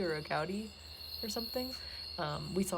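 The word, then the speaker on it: agouti: mammals i've seen i don't know how you pronounce it a goodie a gaudi a-g-o-u-t-i they i believe are related to probably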